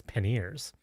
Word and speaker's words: panniers: called them panniers, and the actual pronunciation is panniers. Panniers, but I would say I've panier. Never even heard it. Panier, it look French, right? It's like IER, panier. Like boulangerie.